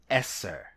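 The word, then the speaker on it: עשר: The Hebrew number 10 is pronounced Eser.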